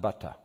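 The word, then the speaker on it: בטח: It's B-T-H, and it's pronounced butta.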